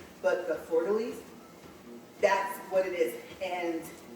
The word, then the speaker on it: fleur-de-lis: I'm going to mess this up because I don't think you pronounce the S at the end. But the fleur-de-lis, that's what it is.